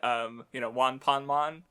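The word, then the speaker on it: ワンパンマン: Though another reference that I think is funny is One Punch Man, or if you pronounced it in Wanpanman, it would be closer to like how it's pronounced in Japanese.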